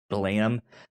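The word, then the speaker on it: Blame!: spelled b-l-a-m-e-e-e-e with an exclamation mark but it's pronounced blam that was i think one of uh something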